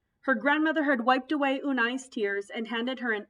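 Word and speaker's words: Unhei: here what's your name unai sedunai unai the girl ass crunching up her face some kids chanted no no it's spelled u-n-h-e-i it's pronounced the boy said like you hey what about you hey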